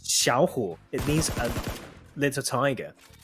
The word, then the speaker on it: Xiao Hu: But in Mandarin, it actually is pronounced Xiao Hu.